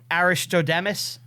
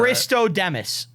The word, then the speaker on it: Aristodemus: Do you know about Aristodemus? Is he saying that I right? don't think he's pronouncing it. He's not saying that right. Aristodemus.